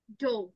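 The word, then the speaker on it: dough: প্রো এন্ড গট to work making big just ডো এটার উচ্চারণটা হবে ডো ওকে ডো ডো আটা ও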